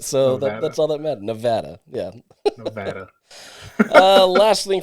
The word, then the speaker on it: Nevada: said it right so that's all that matter Nevada yeah Nevada uh last thing for me you